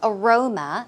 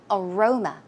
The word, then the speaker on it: aroma: night before right so aroma as you can see the stress goes on the second syllable aroma aroma some synonyms are sent